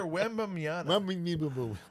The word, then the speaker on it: Wembanyama: Victor Wembanyama.